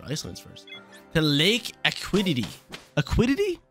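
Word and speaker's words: Lake Acuity: Aquidity? Yeah, that's how you pronounce it.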